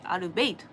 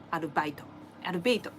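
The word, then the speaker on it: Arbeit: なんですね So the correct pronunciation of it is gonna be アルベイト German, yeah アルベイトちょっと It's kind of embarrassing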